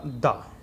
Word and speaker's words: the: पर हम कई जगह THE सैम स्पेलिंग है, कहीं पर उसको दी पढ़ते हैं हम और कहीं पर उसको दा पढ़ते हैं।